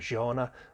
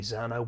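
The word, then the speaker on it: Zhanna: spelled z-h z-h-a-n-n-a and if i was reading it i would probably pronounce that gianna or maybe xana with a short a but in the audio book if i can get this right she was zona sauna stutter so sauna's daughter and it was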